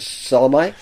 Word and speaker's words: Salome: Well, the lady who plays the figure of Salome, Chloe... Salome, isn't it? Yeah, sometimes they pronounce it Salome, is Chloe Jessup, who appears as the Atropos in Torture Garden with the shears.